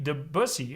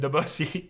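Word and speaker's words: Debussy: So you can expect me to say debusy instead of the busussy because I respect Impressionism movement and it many talented composers.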